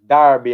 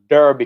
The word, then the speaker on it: Darby: It's pronounced Darby and not Derby County when I was doing the Ravel story.